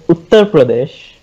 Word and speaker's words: Uttar Pradesh: Okay, first of all, to answer Ali, the state is pronounced as Uttar Pradesh.